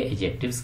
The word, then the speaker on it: adjectives: तो आज बात करेंगे एडजेक्टिव्स की। तो एक तो ये है कि इसको आपने एडजेक्टिव नहीं पढ़ना, क्या पढ़ना है, एडजेक्टिव्स, यानी डी है ये, इसमें डा साउंड ये साइलेंट है।